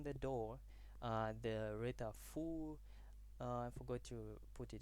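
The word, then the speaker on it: 福: The red are full. I forgot to put it in the report. It's fu, pronounced like they write a full at the door.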